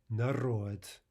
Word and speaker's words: народ: if it's in final position as a consonant that would normally be voiced, it will be devoiced to a hard T, right? So again, in some cases in these examples, we'll actually not be pronouncing a D at all. We'll be pronouncing its devoiced equivalent.